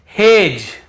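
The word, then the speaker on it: hedge: फिर देखिए हेज और वेज, यहां पर भी डी को हम नहीं पढ़ रहे हैं, ब्रिज, एज, हेज और वेज।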